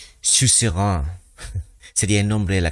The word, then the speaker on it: suzerain: di cuenta que era una palabra francesa que significa soberano, que creo que se pronuncia Sus Rein, sería el nombre de la canción.